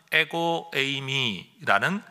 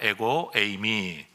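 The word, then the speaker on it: ἐγώ εἰμι: 그 중에 대표적인 예수님의 어법 표현이 헬라어로는 에고에이미라는 표현입니다. 따라하십시다. 에고에이미. 이걸 또 에고 이렇게 발음하시면 안 됩니다. 에고에이미.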